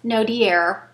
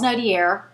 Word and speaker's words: Nodier: street is called Charles Nodier. Now I'm saying it like it's spelled. That's not how you say it, but it's Charles Nodier.